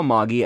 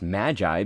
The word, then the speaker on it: Magi: my heart yes okay so when I saw moggy at first I thought it's a it was going to be pronounced Magi because you know that's how we usually say